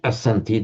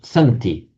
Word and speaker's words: santi: You would have expected from the root as you would have expected to see asenti but it's not asenti the initial a just drops irregularly so it's just centi they are for the